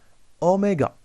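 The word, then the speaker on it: oméga: sûr en ce symbole cette lettre c'est en là sa prudence se prononcent omega mais ici on va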